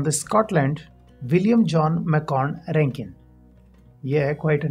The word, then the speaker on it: Rankine: as arank Kine but the more common pronunciation especially in engineering circles is Rankin now Rankin made few